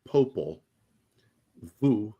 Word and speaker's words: Popol Vuh: It's Popol, like Popol, Vuh, V-U-H. But in Spanish, it's pronounced differently. Martin said it.